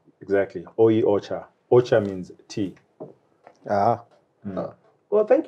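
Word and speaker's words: お茶: it's like a shona word so try and pronounce that ocha exactly ocha ocha means tea well thank you jacob on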